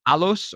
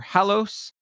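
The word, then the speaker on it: halos: floor which is and again I'm probably going to pronounce this slightly incorrectly but it's like alos or hallos h a l o s which comes from again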